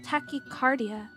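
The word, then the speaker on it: tachycardia: Um by the way it's pronounced tachicardia.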